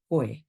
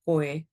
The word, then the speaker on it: koe: So with pronunciation in Te Reo Māori also, when you get two vowel sounds together, it can be tricky. So with that kupu, with that term koe. So koe, so practicing the o